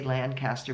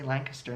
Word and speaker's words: Lancaster: Lancaster Pennsylvania but if you say Lancaster people look at you funny so you have to say Lancaster and then they know what you're talking about it's just a local way of how people pronounce it around here so so if